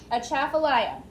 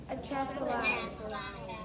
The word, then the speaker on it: Atchafalaya: Again, Atchafalaya. Atchafalaya.